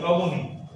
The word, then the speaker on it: অবনী: দীর্ঘ উচ্চারণ করি কি? হ্রস্ব উচ্চারণ করি অবনী।